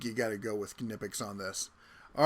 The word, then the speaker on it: Knipex: And yes, it's pronounced Knipex. I've talked to the people at the booth. I've talked to the people from Germany. It's Knipex. You can say Knipex if you want.